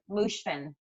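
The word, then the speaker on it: Moshfegh: Mushfin.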